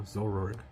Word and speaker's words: Zoroark: The oh, how do you pronounce it? Zoroark? There you go. Zoroark.